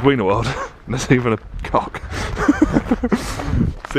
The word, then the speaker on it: Wienerwald: Wiener World. That's where we just were. But because W's are pronounced with a V, it's Wienerwald, right?